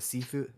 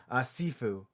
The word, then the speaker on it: Sifu: Are you guys familiar with the seafood? How do you say it? Seafood? I'm gonna it's not seafood. I'm gonna butcher this name. Sifu. It's Yes.